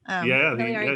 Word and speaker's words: Miliare: Miliare Group.